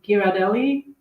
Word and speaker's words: Ghirardelli: they often have um I hope I'm gonna pronounce it correctly is it Ghirardelli yes yeah I also like like dipping chocolate